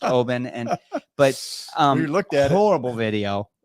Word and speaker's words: Oban: made a comment I some people may say oh oh ban or yeah but I think it's pronounced Obin and but um horrible